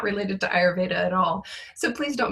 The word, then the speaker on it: Ayurveda: i are your i or how do you pronounce it and i was like oh ayurveda and she was like um yeah she was